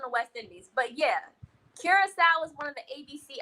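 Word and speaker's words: Curaçao: And just that quick, I forgot how to pronounce it. Kira is Curacao. It's blue Curacao.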